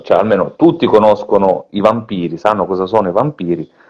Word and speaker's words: Vampir: che vi faccio vedere, si chiama Vampir, credo di aver pronunciato bene perché credo che sia in serbo la parola, vero professore? Magari mi corregge anche Sì, lei. ma trasposta in tedesco, quindi vampir va bene.